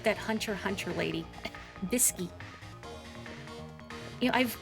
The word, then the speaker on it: Hunter x Hunter: it bisy like that Hunter Hunter lady bisy you know I've I've never I've never seen Hunter Hunter it's pronounced like that right you don't say Hunter x Hunter I've heard it's good